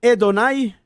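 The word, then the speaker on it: אֲדֹנָי: en el nuevo testamento esa expresión hedonai que se escribe pues adonay significa en griego kyrios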